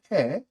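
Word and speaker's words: הא: 그리고 읽을 때는 히읗, H라고 읽습니다.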